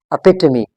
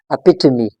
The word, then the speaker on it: epitome: Okay, it's actually pronounced as epitome. इस word की correct या standard pronunciation क्या होगी? Epitome. Epitome. इसका मतलब है कि हमारे पास जो e है ये हमारे पास आखिर में ये silent नहीं है, ये epitome नहीं है.